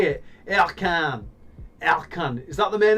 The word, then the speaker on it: Ercan: Ercan.